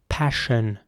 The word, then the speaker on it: passion: So not s, but sh. Passion. Not passion or passion or something, but passion.